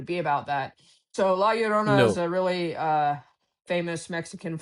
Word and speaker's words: La Llorona: And well, I'll try and pronounce it, but I don't know. Ya Llorona? Is that La right? Llorona, yeah.